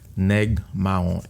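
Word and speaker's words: Nèg Mawon: Neg Mahon. Negmon.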